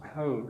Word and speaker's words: hal: Sinu hal, it's pronounced with like a U instead of an A.